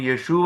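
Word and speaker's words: ישוע: Jesus എന്ന് എങ്ങനെ എഴുതും ജീസസിന്റെ ഹെബ്രായ ഭാഷയിലുള്ള വാക്ക് യഷുവ എന്നുള്ളതാണ് ജോഷുവ അതിൽ നിന്ന് വന്നതാണ് യഷുവ എന്നാണ് ജീസസ്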